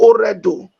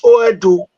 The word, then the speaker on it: Oedo: The British people could not pronounce it, so they corrupted it to Oredo. But actually, it is Oedo, the town city of Edo, of Benin City, Edo.